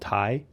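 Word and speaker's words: Taye: and still barely see called Thai I think that's how you pronounce it t-a-y-e it had like a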